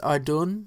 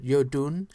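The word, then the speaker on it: Iðunn: tells the story of the goddess adun or you actually pronounce it Yun um who offered apples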